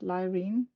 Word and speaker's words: Laireen: But but this is how I would say it in Danish like pronounce it. Lirene.